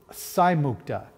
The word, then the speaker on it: Saimukta: So it's Saimukta. I want to make sure I pronounce her name correctly.